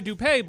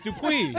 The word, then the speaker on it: Dupuy: no, it's Dupuy. I don't care. I don't care what thought you're it was. I thought it goes by Dupay, but that is not the pronunciation of that. It's Dupuis.